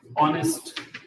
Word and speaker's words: honest: begins with all sound honest and when when the word begin with any word begins with h is the consonant but it is not pronounced it becomes silent it becomes silent and